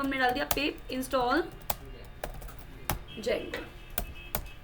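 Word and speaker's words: Django: जेंगो पे काम कर रहे हैं तो हमने डाल दिया पिप इंस्टॉल जेंगो। अरे डी साइलेंट होता है जेंगो।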